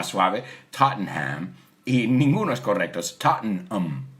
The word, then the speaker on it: Tottenham: east west mhmm ham humming hey we don't pronounce that tot we say Tottenham he says soup or nay but one of